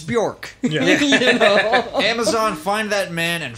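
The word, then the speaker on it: Björk: bjornhild what yeah yeah is it bajork no it's bjork amazon find that man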